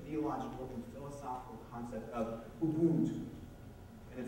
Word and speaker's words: Ubuntu: and philosophical concept of Ubuntu. And it's a tonal language, that's how you say it.